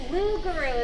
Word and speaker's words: Lugaru: So how do you pronounce that? Lugaru is how I've been told.